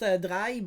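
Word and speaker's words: Drei: rather just search the dry and then you know make a novenfini by the way i know it's pronounced drai but i don't care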